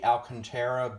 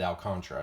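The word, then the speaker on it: Alcantara: 11 where will Sandy alcanta be at the trade deadline I think I should have said alantra I said his name wrong uh I believe he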